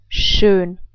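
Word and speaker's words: schön: this is pronounced now let's try to put this all together we would pronounce it like soon I say it again soon so I hope that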